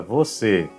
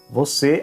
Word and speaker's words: você: Ou seja, o circunflexo neutraliza a pronúncia do E e fica muito similar ao espanhol.